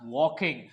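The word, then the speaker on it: walking: लिए यूज होता है डब्ल्यू ए एल के वॉक और इसमें लगाएंगे आई एनजी यहां पे एल होता है साइलेंट तो ये हो गया वॉकिंग सो to main were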